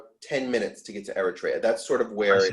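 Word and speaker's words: Eretria: the african one is e-r-i-t-r-e-a and the greek one is e-r-e-t-r-e-a usually pronounced eritrea the okay one uh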